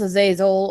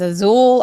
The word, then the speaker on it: Azazel: Yeah, it's pronounced Azazel, or depending on who's pronouncing it. I've heard it pronounced Azul. I've heard it pronounced Azazel.